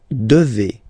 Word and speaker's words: devez: And then vous devez. Remember, classic ending for vous here, a Z, but then you pronounce this combination of two letters, et, devez, devez, vous devez.